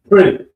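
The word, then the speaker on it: Pretti: I think you're talking about the Preetti. Yeah. Pretty. Pretty. That's how it's pronounced.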